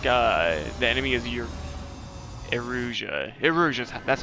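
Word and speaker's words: Erusea: Eruzhia, that's how you say it.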